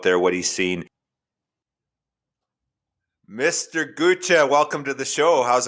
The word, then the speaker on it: Gutsche: Like, how do you actually pronounce it? Yeah, it's Ga. I get I get Gucci Gu.